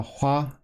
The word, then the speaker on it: 화: to a certain degree now this is a Hua also pronounced Hua in Korean but this also is